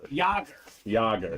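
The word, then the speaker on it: Jaromír Jágr: That's what I said, Jaeger. Jaeger. Bob's always got the pronunciation down. Jaromir Jager. Yager.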